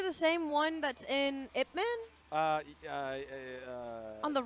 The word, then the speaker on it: Ip Man: okay, He said it's pronounced IP Man.